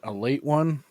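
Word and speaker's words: Ale-8-One: it's ale 81 but they pronounce it a late one and it's from like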